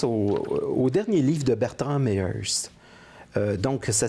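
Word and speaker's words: Méheust: Et je pense au dernier livre de Bertrand Meyers. Donc, ça s'écrit M-E accent aigu H-E-U-S-T, Bertrand Meyers.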